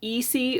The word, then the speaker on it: Isi: But if anybody is curious and they haven't heard the name out loud, it is pronounced Isi according to the show.